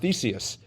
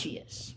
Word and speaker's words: Theseus: This is actually, I think it's pronounced Theseus. At least I always. Theseus.